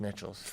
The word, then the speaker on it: Nichols: Pronounced Nichols.